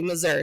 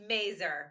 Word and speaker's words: Mazur: that's how you say Mazur. So go ahead and correct me if I'm wrong. So everyone says it like that. It's pronounced Mazur, but it's okay because you're not the only one.